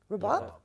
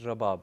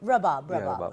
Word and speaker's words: Rabab: Flay see you Shahzad mentioned in the introduction that you played how do you pronounce of Rabab rabat its Rabab Rabab sorry Bob and you